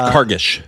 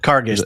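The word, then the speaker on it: Kargish: In the in the car c I can now now pronounce it. I just broke my mouth. She's Cargish. Carish.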